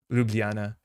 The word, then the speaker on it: Ljubljana: Ljubljana.